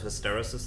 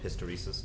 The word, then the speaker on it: hysteresis: I think one thing worth just saying with that is there's a process of hysteresis that goes on, or hysteresis, depending on how you want to pronounce it.